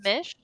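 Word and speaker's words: Tzimisce: said crimon nights they did say that yes zish I would pronounce it zish I would say zish yeah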